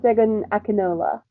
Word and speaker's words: Segun Akinola: Can you pronounce it, please? Because I will Segun, butcher it. yeah, Segun Akinola.